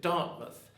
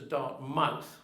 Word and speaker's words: Dartmouth: And incidentally, it has the same pronunciation. You pronounce it Dartmouth, as opposed to Dartmouth, which is the more phonetic version.